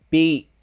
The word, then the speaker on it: beach: Beach.